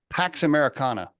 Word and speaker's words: Pax Americana: it Pax what do you say it's Americana Pax Americana it's interesting you bring that up because I